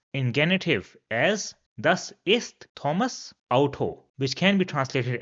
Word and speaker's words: Thomas: So that's why Thomas in genative will be Thomas with an apostrophe at the end and it will be pronounced simply as Thomas.